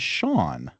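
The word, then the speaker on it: Seán: Uh S E an is Shawn, right? Because it has a slender vowel after the S.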